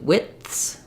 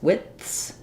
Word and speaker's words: widths: width width and then when we get to widths widths um here I think I do have all three sounds but the D is since it's unreleased it sounds a little bit like it was is just the w i and the th and the S but I need that stopped sound WIS WIS um I